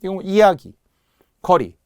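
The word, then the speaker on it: 이야깃거리: 한번 번호를 붙여 볼게요 이야기 거리 고유어 고유어 그리고 둘 다 명사 명사 그래서 사소이 들어간 후 발음이 된 소리가 났다는 거예 이야기거리 이렇게 된 소리가 나는 경우가 엄청 많아요 또 해 볼게요 선짓국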